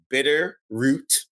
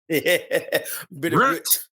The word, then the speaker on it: Bitterroot: It's spelled Bitter Root, Root, but it's pronounced. But how do we pronounce it? Bitterroot.